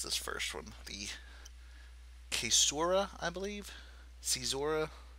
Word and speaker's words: caesura: Going down the line, we have the, I'm not 100% sure how to pronounce this first one, the caesura, I believe?